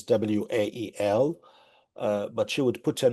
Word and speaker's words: Wael: Again, my name is Wael. It's spelled W-A-E-L. I like to always tell people you can think of it as the two initial.